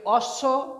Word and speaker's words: অশ্ব: এখানে দেখো একটা ব্যাপার দেখা যাচ্ছে যে অশ্ব অ তালবস্যে ব যে যুক্ত বর্ণটা হয়েছে, এখানে বয়ের কোনো উচ্চারণ নেই।